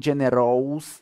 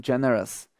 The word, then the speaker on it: generous: poznáme a generous štedrý pozor ale na výslovnosť nehovorím gener ale hovorím generous všetky koncovky alebo Marvel generous a tak ďalej vždy tam bude iba to nikdy To sa tak nevyslovuje pozrieme sa na to